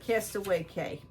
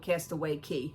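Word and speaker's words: Castaway Cay: They pronounce it Castaway Key, even though Key is spelled C-A-Y.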